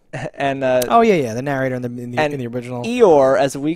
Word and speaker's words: Eeyore: a donkey makes, but it is a silent R here, so, so it's named after the noise. It's Eeyaw is his name, but we pronounce the R, so he's Eeyore here.